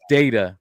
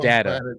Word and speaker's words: Data: Oh, you can't even pronounce his name right. His name is Data, sir. I need a drink. His name is Data, not Data.